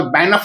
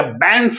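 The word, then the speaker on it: Banff: चौथा सवाल, बैंफ national park है ना, या बैंफ भी कहते हैं इसको, प्रोनाउंसिएशन का अपना अपना है, कहाँ पे है,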